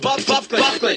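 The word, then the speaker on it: Byfuglien: It's pronounced Buffley.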